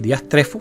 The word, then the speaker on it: diastrefo: y entonces va a encontrar aquí diastrefo. Fíjense que efectivamente así es como se pronuncia en español.